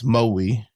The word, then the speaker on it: Maui: Wowi. So, kind of more biting down on the on the vowels. Maui.